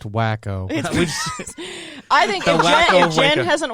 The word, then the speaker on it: Waco: we just started waco it's pronounced wacko i think if jen